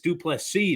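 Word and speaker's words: du Plessis: but so is dreikas duplex C the S is silent and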